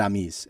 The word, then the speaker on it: amis: amis. Yeah, so that means friends. It would be spelled as we would spell it, AMIS.